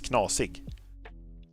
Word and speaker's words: knasig: If someone is a little weird, you can say that he is knasig. Knosig. It's I'm gonna spell it for you.